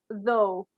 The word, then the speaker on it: though: So this is pronounced though, because basically GH is silent.